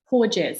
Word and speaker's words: Porges: yeah how do you how do you say his name again Stephen poor jet so p-o-r-g-e-s cool because I know